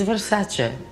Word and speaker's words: Versace: Don't take it from me, Donatella will tell you how to say it. It's Versace.